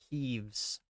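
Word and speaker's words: Keves: Queen of Keeves. I I still am unaware of it's pronounced Keeves or Kev or Caves or whatever. Oh, Q. Apparently, it's just Q.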